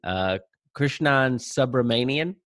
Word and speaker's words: Krishnan Subramanian: Today we have with us, and Krishnan, let me know if I'm mispronouncing anything, Krishnan Subramanian.